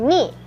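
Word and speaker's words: に: 2, ni.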